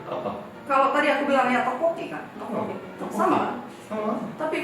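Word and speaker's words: 떡볶이: Namanya kalau kita ngomongin adalah tteokbokki. Nah itu adalah pelafalan orang Indonesia.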